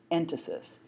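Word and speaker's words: entasis: middle you'll see the word written but I'll spell it for you right now it's called ant Isis en ta sis and that has to do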